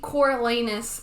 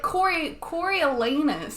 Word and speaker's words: Coriolanus: Or was his name actually Coriolanus the whole time?